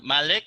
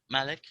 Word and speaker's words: Malik: spelling is not correct so I can pronounce that as uh Malik is that right Malik okay it's m a